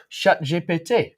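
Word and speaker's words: ChatGPT: now in French the the letter G is pronounced J and uh so CH chat GPT would be shat J um unfortunately shat means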